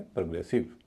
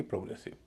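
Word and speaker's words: progressive: ओ ओ यहां पर हल्का हो जाएगा। तो इसको बोलेंगे प्रोग्रेसिव ना कि प्रोग्रेसिव।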